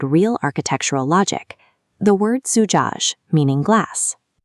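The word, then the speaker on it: زجاج: Tracing from right to left, we start with za with a Damma vowel, making the short sound zu. Za is a one-way letter, so it forces a break. The next letter, jim with a fatha, makes a ja sound.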